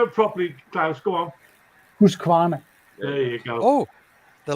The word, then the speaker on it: Husqvarna: do you do it properly class go on who's Kawana there you go oh the lady that I